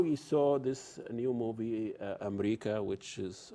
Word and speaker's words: Amreeka: So now you saw this new movie, Amreeka, which is, I like the title, that's how Arabs pronounce America.